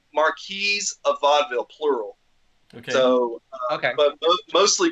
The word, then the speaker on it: Marquis of Vaudeville: do you say it we just say mark Marquis a vaudeville plural okay okay but